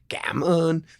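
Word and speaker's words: cảm ơn: just simply say thank you in the worst pronunciation possible. But I'm like, come on, come on. By the way, it's gammon.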